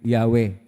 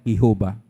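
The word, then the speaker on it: Yahweh: wala pong bowels consonance lahat ang pagpronounce po diyan ay yahwe hindi po yua ang pangalan ng Diyos yahwe atin pong nilapastangan ang Diyos kapagka tawagin natin siyang yehova at kung sinoang nagpalaganap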